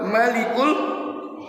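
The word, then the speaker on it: الملك: Hualladzi la ilahailla huwar huwal malikul qudus. Mannya enggak panjang karena Allah Subhanahu wa taala berfirman dan menyampaikan aku ini adalah Tuhan yang raja.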